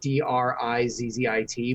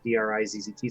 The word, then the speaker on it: Drizzt: But just like people used to always say Drizzt, like Drizzit, but there is no second I. It's just Drizzt.